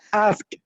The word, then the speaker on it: asked: No one asked. Good. No one asked. There's no ed. There's just a t on the end of this.